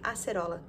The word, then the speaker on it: acerola: i know how to say this we say acerola it's from brazil that's where i'm from and